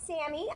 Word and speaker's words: Sammy: Yes, Sammy?